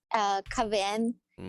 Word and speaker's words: KVN: KVN Mm. is how it's pronounced, but in translation is club of the, like, happy and outgoing kind of thing.